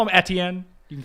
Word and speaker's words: Etienne: Well, it's actually how you say it, so. It also goes with your other ones, though. Usually your Francais. Yeah, my fake Francais names, but this is actually a Francais name, but Americans just, it's